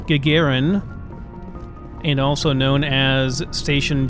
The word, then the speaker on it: Gagarin: learned a lot more it is pronounced Gagarin and also known as